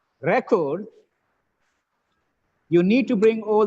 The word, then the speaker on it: record: session here presenting right record you need to bring all the records record the first syllabus stress it's a noun recording this webinar saying